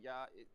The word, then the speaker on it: ja: It's spelled ja but they say yah.